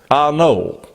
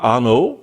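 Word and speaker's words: Arnault: a guy called Bernard arnno spelled a r n a u l t which I guess you'd pronounce it like the Renault modar ano I guess it would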